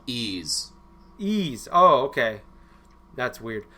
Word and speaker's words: Ys: It's It's called Ease. Ease. Oh, okay. That's weird. Um spelled like that. I know. It's it's it's kind of a weird pronunciation of it, but it's pronounced ease.